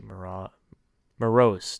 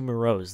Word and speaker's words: Moroz: another young guy in darcy mara morose darcy moroz that's how you say it i just can't